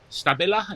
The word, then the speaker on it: Stabila: Stabila is how you pronounce it.